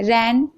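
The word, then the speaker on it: reign: Okay, N से पहले जी है तो जी साइलेंट है। रैन, यहाँ पर भी आप देख रहे हैं जी है तो जी साइलेंट है।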